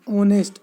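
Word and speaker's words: honest: ऑनेस्ट, ऑनेस्ट में एच है।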